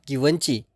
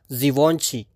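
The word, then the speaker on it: Givenchy: for some Luxury Perfumes the pronunciation of this brand is not guni in French it's Zoni fancy right last but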